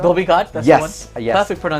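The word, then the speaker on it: Dhobi Ghat: There's a Dobby Guard? Dobby Ghat, that's Yes, the one. yes. Perfect pronunciation, by the way.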